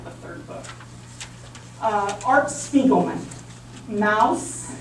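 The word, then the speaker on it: Maus: Mouse, and it's German, M-A-U-S, okay, good pronounce, mouse.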